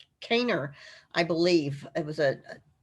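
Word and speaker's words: Kanner: again by leo um it looks like canner but i think they actually pronounced it um kaner i believe it was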